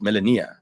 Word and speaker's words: Melania: But does it have an A or an E? Melania. It has an IA. It's Melania. Oh, Melania.